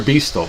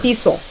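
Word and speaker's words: Beistle: They're Beastel for sure. Beasel. They're Beasel. Beasel. You don't pronounce the T? No, you don't. It's Beasel. Like Bissell. That's how you say it, Beasel.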